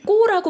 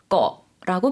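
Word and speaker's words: เกาะ: 것은 한국 분들이 사실 꼬라고 많이 알고 계시는데요. 그건 영어를 이제 한국어로 바꾸다 보니까 그렇게 발음을 하신 거고요. 섬이라는 것은 태국식 발음이 꺼라고 발음을 해주셔야 됩니다.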